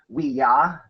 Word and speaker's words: Ouija: And it actually should be pronounced Ouija because it's supposed to mean yes, yes. Correct. In French and German.